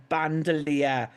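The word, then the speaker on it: bandolier: Bill Jones says I'm pronouncing wrong. It's Bandelier. I want to swing from the band.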